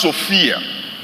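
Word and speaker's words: σοφία: You know, the word wisdom in this verse, it comes from a Greek word that is pronounced Sophia.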